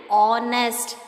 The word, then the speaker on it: honest: H is silent in this word. We will pronounce these words as hour and honest. That it starts with the sound of O.